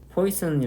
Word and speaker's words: Poisson: 프 화성의 라 플라스틱 퀘 션 디 이 발음이 미국 사람들은 얘를 포 잇으니 라고 하거든요 그런데 이 화성 이라는 사람이 프랑스 라며 가지고 원래 바람이 푸아 성 이에요 그래서 우리나라는 g 그러니까 그래서 그 원래